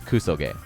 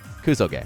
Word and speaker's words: kusoge: often uh what is the word it's it's kuso gay kuso gay right multiple people ask me hey what's kusu